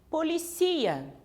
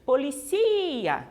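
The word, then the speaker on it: policía: Policia, ó, policia. O professor está até com a voz um pouco fraca hoje, mas policia, você percebe, né? Que o acento, né? Que a tonicidade, ela recai sobre a penúltima sílaba.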